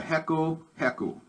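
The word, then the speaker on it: reco-reco: this is my favorite this is called the heko heku it's spelled r-e-c-o-r-e-c-o and as you can see it's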